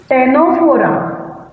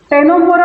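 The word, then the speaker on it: Ctenophora: Then phylum टेनोफोरा. टेनोफोरा बोल रही हूं मैं, सी साइलेंट है. टेनोफोरा टी है ये.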